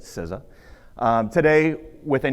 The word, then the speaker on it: CISA: Now known as CISA, the Cybersecurity and Infrastructure Security Agency, and that is the proper way to say it, CISA.